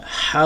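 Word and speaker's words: ح: সদ সদ লাম হা, হা উচ্চারণ করার সময় গলার ভিতর থেকে উচ্চারণ করতে হবে।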